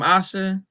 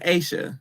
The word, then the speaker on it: Asia: not that thing from Asha bet wait it's Asia not Asha oh Asia my bad